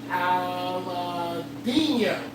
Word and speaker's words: Aladino: The Aladino. There we go. Did I say it right? Yes, you said it right.